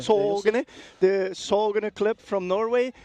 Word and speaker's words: Sagene: This is the Sagene. I think it's pronounced Sogene. Sogene, the Sogene club from Norway.